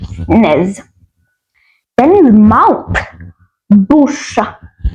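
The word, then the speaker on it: bouche: simple spelling n e z Nez then mouth bush bush let's see how to spell that b o u c h e bu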